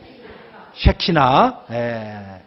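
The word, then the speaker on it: שכינה: 발음을 잘하셔야 돼요. 새끼가 아니라 뭐라고요? 새키나.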